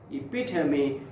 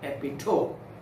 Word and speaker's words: epitome: modern young man okay so pronounce this word as epitome not epitome the next word is